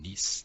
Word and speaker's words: Nice: okay okay let because if friends we say nice that's how it's pronounced okay so this I will